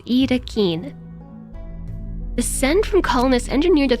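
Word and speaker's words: Yttakin: Pronounced roughly as Itakin.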